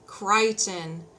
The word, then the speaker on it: Crichton: Sam, his name rhymes with Titan. Crichton.